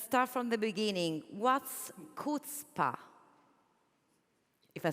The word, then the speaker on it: chutzpah: thank you let's start from the beginning what's kPa if I said it right of course yes you did HPA is a word in Hebrew but actually in